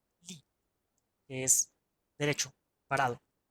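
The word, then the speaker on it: 立: Que esto se lee Li, que es derecho, parado.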